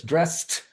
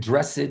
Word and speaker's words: dressed: Oh my god, the ed sound when it's voiceless dressed. my French students right saying meid dressid stressid right but no they rhyme with rest which is the word